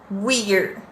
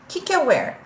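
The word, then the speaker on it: we're: pronúncias variadas dessa junção uma das pronúncias é wear como é que a gente escreve isso o i r vamos comigo whirr whirr whirr pra que isso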